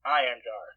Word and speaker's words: Einherjar: Einherjar. But there's an H-E-R there. Yeah. It's not silent.